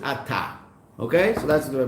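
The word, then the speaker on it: אתה: It's just aleph taf. So it's as if it's really at, but we pronounce it ata.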